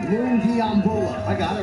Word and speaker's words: Lungiambula: I'm telling you, better start learning how to pronounce that name. Lungiambula.